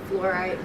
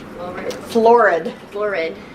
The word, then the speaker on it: Florid: Is the fluoride, I'm saying it wrong, Florid.